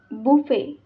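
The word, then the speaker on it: buffet: बुफे तर spelling बघा बी you double F इ टी बट टी इज a silent letter we pronounce it बुफे बुफे बुफे म्हणजे काय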